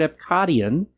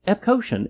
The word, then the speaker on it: Epcotian: Cosmic Rewind and they started using the word epadian. I'm sorry. Epcotian is still the correct pronunciation.